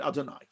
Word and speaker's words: Adonai: We express that discrepancy between reality and perception by, we see the name of God written as Yud and Hey and Vav and Hey, but we pronounce it Aleph Daled Nun Yud Adonai.